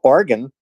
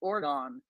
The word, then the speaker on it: Oregon: can you finally learn how to how to pronounce Oregon uh well Oregon you mean that state Way Out West yeah but you keep calling it Ordon well I have to cross the Mississippi to